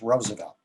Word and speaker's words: Roosevelt: and the trc roosevelt it's a dutch name and in dutch two o's is oh not ooh as it would be pronounced in america there is a wonderful